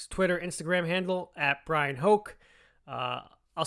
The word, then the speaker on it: Hoch: instagram handle at brian hoke uh i'll spell it for you it's b-r-y-a-n-h-o-c-h i know looks like it's might be pronounced hatch but it's pronounced hoke so it rhymes with coke as he says as